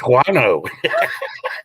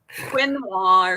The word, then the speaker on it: quinoa: No, I can't say it right. It's guano. Now you know why I was saying guano, because the way it looks like that. Quinoa or something like that is how they say it.